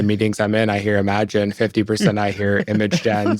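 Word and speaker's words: Imagen: models super cool I want to talk about imagine 3 which I just learned is actually pronounced imagine 3 like I've been calling it imagin I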